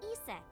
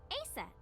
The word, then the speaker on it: Isis: Horse's mom is named Isis. But in ancient Egyptian, it's pronounced closer to Iset or Aset.